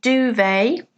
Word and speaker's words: duvet: Number 2, note the pronunciation duvet. Duvet is a large soft item that you sleep under.